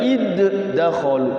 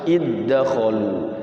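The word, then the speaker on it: ادخلوا: Itu jadinya tidak qalqalah, masuk kepada huruf yang depannya langsung seperti iddakhalu, dal ketemu dal langsung, tidak boleh dibaca iddakhalu, tidak boleh, tapi bacanya langsung masuk iddakhalu.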